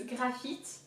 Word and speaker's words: graphite: So the first syllable, gras, so again, high emphasis on the R, gras, grr, grr. Like, you know, you see in comic books, grr, kind of thing, gras. And then PH is F, so think of the